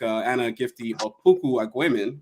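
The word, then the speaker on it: Anna Gifty Opoku-Agyeman: This person as well, like Anna Gifty Opoku Agwemen, I think that's how you say her name.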